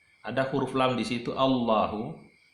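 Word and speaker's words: الله: Ada huruf lam di situ, Allahu. Lamnya di situ ada dua hukum bacanya. Kadang dibaca tafkhim, kadang dibaca tarkik, kadang dibaca tebal, dan kadang-kadang dibaca tipis. Jadi itu kalau kita dapatkan lafaz Allahu, kadang dibaca Allahu tebal, kadang dibaca Allahu tipis.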